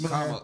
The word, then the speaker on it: Kamala: Kamala. Kamala. Kamala, I keep saying her Camila, name wrong.